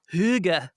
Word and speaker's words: hygge: h y g g e I'm the worst pronouncer just sound it out h y g g yeah higgy yeah like higgy higgy right or like haga no the Danes call it are you ready Huga H exactly Huga Huga and what exactly and